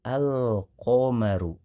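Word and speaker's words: القمر: Berbeda dengan alif lam qamariyah kemarin pada pertemuan sebelumnya, lamnya terdengar jelas, al-qamaru, al.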